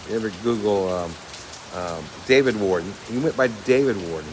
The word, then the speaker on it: Worden: his middle name and Ward Warden like a it's funny uh like a prison Warden which is just funny